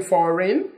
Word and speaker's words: foreign: foreign food and foreign G is silent in foreign G is silent in